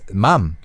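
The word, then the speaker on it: 맘: is that um is Mom Mom yeah Mom so it's a very short word one syllable with three letters mumum it sounds similar to the English mom like Mom yeah mother mom but it's actually shortened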